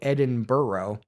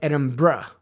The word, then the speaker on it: Edinburgh: I am not trying to say edin burrow it just kind of comes out that way it's more like edin BR my apologies to my